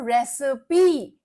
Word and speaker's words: recipe: It is called as a recipe.